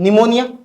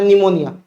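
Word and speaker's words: pneumonia: निमोना से याद रखना निमोनिया ठीक है ये पी जो होता है पी साइलेंट है निमोनिया स्टेप्टो कोकस निमो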